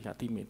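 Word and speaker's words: κάθημαι: AE itu dibaca E, Katime, duduk.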